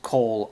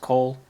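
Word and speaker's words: כל: key that or because Cole and this is pronounced Cole also it's just spelled with a comets but they're both pronounced Cole that is all every or the whole next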